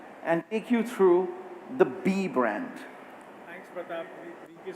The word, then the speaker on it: BE: So let's first begin by talking about B. I just want to clarify again, it's spelled B-E, but the brand is pronounced B.